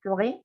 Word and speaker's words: forêt: Miren que, por ejemplo, bosque, forêt, no tiene la E final. Es forêt, no la pronuncio la consonante final.